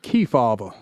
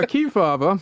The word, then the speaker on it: Kefauver: Kebaba. It sounds like you're you don't know how to say it. Here's Kea.